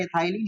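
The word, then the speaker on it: ethylene: हिंदी में एथाइलिन को हम लिखते हैं एथिलीन, प्रोनाउंस होता है एथाइलिन, हिंदी में एथिलीन लिखते हैं डायन।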